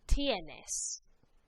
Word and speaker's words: tienes: So repitan, tienes. Tienes. Make sure you pronounce that I and the E.